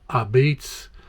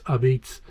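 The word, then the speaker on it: apizza: style of pizza which they call abeats which is spelled a p i z z a you think it's a pizza but it's abits and uh once once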